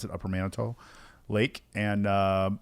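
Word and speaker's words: Upper Manitou Lake: It looks like it's upper Manatau, but they they pronounce it upper Manito Lake and uh it's it's tens of thousands of acres of lake and six people on the lake.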